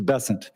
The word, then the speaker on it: Bessent: south Louisiana and I'm going to pronounce it with a French b as opposed to bessent that's what those folks in South Carolina do um I'll try let